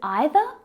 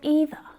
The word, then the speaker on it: either: Is it either? Or either? Have you heard English speakers using both types of pronunciation? Both of them are correct.